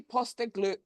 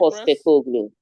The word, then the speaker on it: Postecoglou: Postecoglou. Okay, Postecoglou. All right. Ange Just pronounce Postecoglou. as spelled.